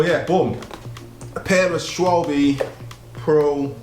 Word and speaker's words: Schwalbe: So yeah, Schwalbe. I think that's how you say it. Schwalbe.